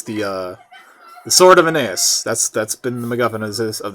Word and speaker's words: Aeneas: Okay, I just 100% want to make sure I don't accidentally pronounce it Sword of Anus.